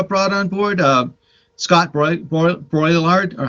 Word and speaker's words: Brouillard: artist you uh brought on board uh scott brouillard or how do you did i pronounce that right scott boylard boylard thank you sorry scott but uh he